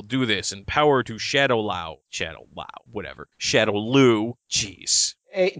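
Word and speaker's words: Shadaloo: Hey, to be fair, there's a whole bunch of different pronunciations that I've seen, be Shadow Lu, Shadow Lao, Shadow Law, so whatever. Whenever I'm in doubt, I default to whatever Raul Julia has said. And he said Shadow Lu, so I consider Shadow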